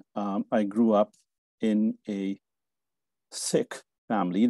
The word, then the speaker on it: Sikh: grew up in a sick family that that is in fact the way to pronounce My Religion s-i-k-h sick and Sikhism and you